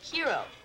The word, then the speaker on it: hero: French word yeah but in English we pronounce the h hero how do you pronounce